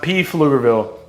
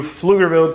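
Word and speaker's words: Pflugerville: But on to number five, we have Flugerville, Texas. How do you spell flugerville? The P is silent, guys. It's not P Flugerville.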